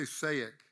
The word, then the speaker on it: SAIC: for 27 years that's I'm going to say sayek do you guys say sayak or you spell it out s-a-i-c-s-a-i-c okay um it's work